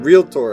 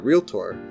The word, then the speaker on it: realtor: Yeah, realtor. Ask someone from the Midwest or the South, and they're more likely to use 3 syllables, pronouncing it either realtor or realtor.